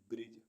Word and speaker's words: bridge: ऐसे वर्ड्स जिनमें alphabet D silent रहता है। BRIDGE ब्रिज, ब्रिज मीन्स पुल।